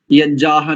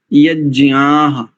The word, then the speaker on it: यज्ञाः: यज्ञाः नहीं करेंगे, ध्यान दीजिए, सानुनासिक वर्ण है, यज्ञाः, ऐसा।